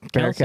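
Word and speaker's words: Kelce: was talking about how the last name was Kels, but when he was drafted, they pronounced it Kelsey, and he never They fucking never corrected him. Yeah, they never Yeah. corrected it. So when Travis come in, like he just went with Kelsey.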